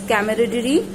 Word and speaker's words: camaraderie: Pronunciation is camaraderie.